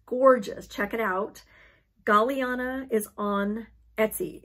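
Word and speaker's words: Galliana: before the bookshelf it's gorgeous check it out galiana is on etsy it's spelled g-a-l-l-i-a-n-a cross-stitch designs on etsy this is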